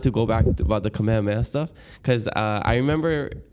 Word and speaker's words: Kamehameha: are your chaos cam I heard not to say cam because it's like you're cutting the name short so you're taking away